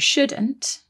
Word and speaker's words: should: one more thing about shouldn't and should is that they contain another silent letter don't they there is a silent l in there s h o u